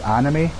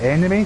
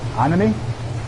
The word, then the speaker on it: anime: And it was really weird because me and that Saudi guy, we were talking, like he's really into his anime, but he pronounces it enemy, so every time he's like, you know, the enemy.